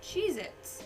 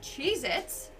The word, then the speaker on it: Cheez-It: swear moving on at number nine we have cheez-its but apparently that tasty cheese cracker is not called cheez-its it's cheez-it either i've been saying it wrong